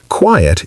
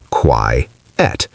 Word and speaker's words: quiet: Quiet is pronounced as two syllables. Qui, et. The I and E are both heard. Qui, et. Like the word diet, but with QU at the start. And quite?